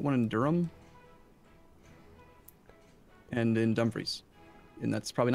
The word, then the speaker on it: Dumfries: And in Dumfries. And that's probably not how you pronounce it, I know. No, Dumfries is how you pronounce it.